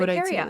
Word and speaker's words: urticaria: Urticaria?